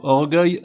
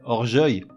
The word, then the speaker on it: orgueil: ferait Cersei pareil avec le mot orgueil ça ferait orgeuil donc pour tous ces mots